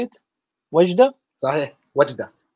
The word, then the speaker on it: Wajda: Wajda? Mm-hmm. How do you say it? Wajda? Sahih. Wajda. Wajda.